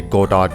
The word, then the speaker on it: Godot: all also i know there's a whole complaint about how to pronounce godot get out whatever i'm just gonna say go taught because it rolls with me better each of its own